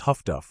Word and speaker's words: HF/DF: Highfrequency direction finding HF/DF pronounced huff by the sailors who operated it didn't care what the message said.